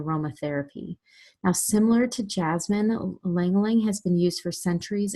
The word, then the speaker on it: ylang ylang: to move on to ylang ylang the why is pronounced silent so ylang ylang and let's tell you